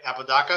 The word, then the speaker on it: Apodaca: Apodaca?